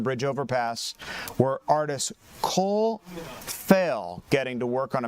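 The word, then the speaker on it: Phail: overpass where artist Cole Fail getting to work on a massive new community moral. Did I pronounce that name right? Uh, P H A I L.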